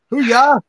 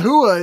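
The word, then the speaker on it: hooyah: Hoo-ya. That burns more than hot sauce. It's not hua, it's hoo-ya.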